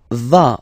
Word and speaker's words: vas: Tu vas, final S doesn't exist.